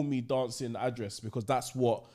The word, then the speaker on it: Damson Idris: Dancing address.